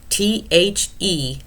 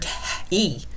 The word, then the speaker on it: the: See, S-E-E, see, the, T-H-E, the. That's got that T-H sound. We don't pronounce this word T-E.